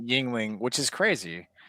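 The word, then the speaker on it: Yuengling: So it says pronounced Yingling, which is crazy.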